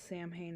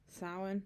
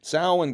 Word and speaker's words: Samhain: Did I pronounce Samhain. Samhain, goddammit. Did I say it right? Samhain. NWA presents Samhain, October 28th. Did I say it right? I think I said it right. It's not Sam Hain.